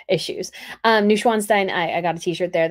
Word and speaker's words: Neuschwanstein: I bought from Neuschwanstein, because I said Neuschweinstein, and Schwein sounds more like swine pig. So Schwan, just anyways, pronunciations issues. Neuschwanstein, I got a t-shirt there that I wore during this trip.